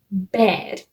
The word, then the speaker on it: Baird: And his tribute that he is looking after is a girl called Lucy Gray Baird. I'm not sure if that's how it's pronounced, but that's how it's spelled.